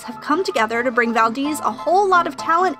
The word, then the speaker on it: Valdez: no no no no i'm sure you mean valdez no sir it's valdez it's a strategic mispronunciation